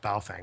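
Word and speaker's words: Baofeng: somebody could do this with a bale Fang B Fang however however you pronounce it I think it's actually pronounced B Fang one of those little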